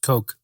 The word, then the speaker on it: Koch: I believe it's pronounced Coke.